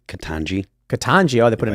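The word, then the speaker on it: Ketanji: How do you pronounce this? Katamji Brown? Is that how you pronounce her name? Katanji.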